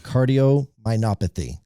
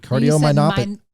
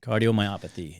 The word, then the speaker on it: cardiomyopathy: say it again cardiomyopathy cardiominopathy myopathy so I said isn't it cardiomyopathy I'm putting an n in there myopathy very good sorry cardiomyopathy and so now can